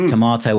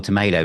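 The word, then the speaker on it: Tormato: at all which is Tomato or Tomato depending on how you want to pronounce it.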